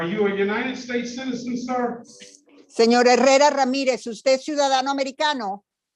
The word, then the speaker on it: Herrera: Guillermo Herrera Ramirez. That is what it shows on my request. And I don't pronounce the H, right? Yeah, it is silent.